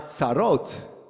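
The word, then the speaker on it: tsarot: our soris is over but our sarot are just beginning using the Safari Israel pronunciation in other words there's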